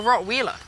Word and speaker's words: Rottweiler: they do had absolutely is it pronounced Rottweiler or Rottweiler the Germans say Rottweiler I say Rottweiler okay and do Rottweilers